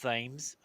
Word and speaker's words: Thames: It's pronounced Thames.